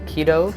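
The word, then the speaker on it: cedo: Now, when I look at this word, I honestly think of the word cease, even though the C in the Roman pronunciation is pronounced like a K.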